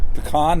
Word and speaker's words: pecan: Pecan pie. Pecan pie. Pecan, not pecan?